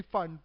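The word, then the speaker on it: Pfund: फॉर द फन series बाद लोग उसको पी फंड भी कहते हैं इट्स बेसिकली फंड पी यहां पे साइलेंट है लाइवन सीरीज के लिए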